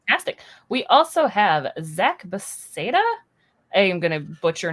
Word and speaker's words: Beseda: Zack Beseda. Give it a name, Awesome. Zach. So Yeah, close. don't remind me. Beseda. I said, It's Czech actually, but I've had Spanish, Italian, so it's hard to pin down, I guess.